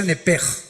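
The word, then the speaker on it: נפש: Apúntala como suena nepesh con sh se pronuncia nepj.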